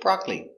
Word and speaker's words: broccoli: very good example broccoli it looks like broccoli but this syllable is silent so we say broccoli i love broccoli it's